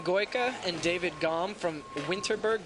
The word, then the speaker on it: Winterberg: and David gone from winterberg Germany or Vinterberg as the locals say it these guys you know